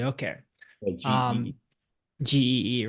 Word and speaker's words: Gee: Do you pronounce it G or G or G, yeah. G? Okay. GE. Um, GEE, right.